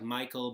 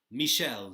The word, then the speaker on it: Michel: It looks like Michael, but he lives in the Black Forest of Germany, and he said it's pronounced, he will accept Michel, the French pronunciation.